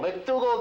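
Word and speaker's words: MacDougal: Yes, McDougal? McDougal, George. Very good. You're absolutely correct. McDougal.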